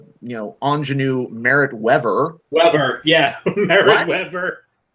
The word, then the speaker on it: Merritt Wever: But Angela Bassett, they mispronounced her name twice. And I'm like, no, stop that. Ingenue Merritt Wever. Wever, yeah, Merritt Wever.